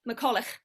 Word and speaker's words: McCulloch: pronounce my surname correctly I still can't say in the Scottish way despite having had it for 17 years yeah try now how should we say it McCulloch right it's it's my